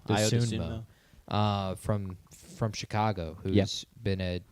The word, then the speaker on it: Dosunmu: Dosunmu.